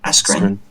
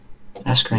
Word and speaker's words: Askren: I think Ben how do you pronounce his surname? Askren. Askren.